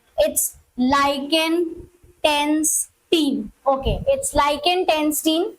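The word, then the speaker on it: Liechtenstein: के नाम है इट्स लाइकेन टस्टीन ओके इट्स लाइकेनस्टीन जो नाम है और दूसरा है हमारा लिथ्व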